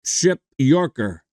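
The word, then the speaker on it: Przepiórka: P r z p i o r k pronounced ship Yorker ship Yorker David ship Yorker a very sad story was his born 22nd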